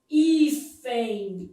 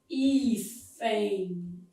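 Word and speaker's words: hífen: Quando eu falo, por exemplo, ifen, ó, ifen, aqui eu tenho um ditongo.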